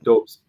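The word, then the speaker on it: Dobeš: Dobes. How you pronounce it.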